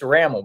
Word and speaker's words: Rammel: Is it Rammel? Okay. Because yeah, I want to say Rammel. I want to say Rammel. How do I say it right? It's Rammel, Rammel.